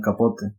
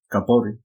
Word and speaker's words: Capote: Bueno, el libro del que hablaremos hoy será Desayuno en Tiffany's, del escritor Truman Capote, o también otros lo pronuncian Truman Capote. Es debatible esa pronunciación sobre su apellido.